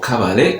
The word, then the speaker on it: Kabale: Uganda, just outside the town of Kabale, or Kabale as the locals pronounce it, and it all happens to be situated not that far away from the border with Rwanda.